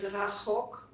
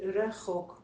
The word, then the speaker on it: רחוק: I know, but rachok. Yeah. For me, it also can be rechok.